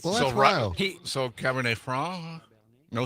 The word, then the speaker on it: Cabernet Franc: But for the typical French pronunciation, you do not want to pronounce the C at the end of Franc because it is silent in French, as many last letters of words are just like the T of Cabernet.